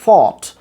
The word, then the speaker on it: thought: প্রথমত একটা long sound আছে এখানে, সায়ের সাথে লং সাউন্ডটা করতে হবে। এটা থট না, উচ্চারণটা হচ্ছে গিয়া ফট, ফট।